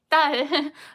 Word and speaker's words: 딸: So just focus on these pressure, initial force right before pronouncing this 딸.